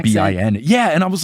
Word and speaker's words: Melbourne: Australia and on tour they were telling me that I shouldn't call the city Melbourne, I should call it like Melbourne, almost like it's spelled like in the Australian Melbin.